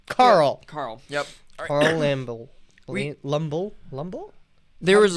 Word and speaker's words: Lumbly: Carl Lumble. Lumble? There was how do you say it? Lumble? Lumbly.